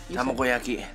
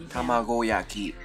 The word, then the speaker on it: Tamagoyaki: Tamagoyaki. Tamagoyaki.